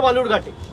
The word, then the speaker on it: বালুরঘাট: আরে আপনি যেখান থেকে লড়ছেন তার নাম ভুল উচ্চারণ করছে, বিকৃত করে বালুরঘাটকে বেলুরঘাট বলছে। আপনি গিয়ে বলতে পারেন না যে অমিতজি এটা বেলুরঘাট নয়, এটা বালুরঘাট?